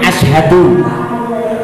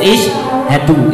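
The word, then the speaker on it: اِشْهَدُوا: Jadi yang betul itu isyhadu, itu fiil amar ya.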